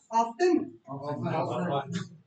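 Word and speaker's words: often: साफ़ करने की आवाज़] को टच करना है ऑफन व्हाटएवर देन ऑफन की साउंड प्रोनाउंस नहीं होगा होगा या नहीं होगा नहीं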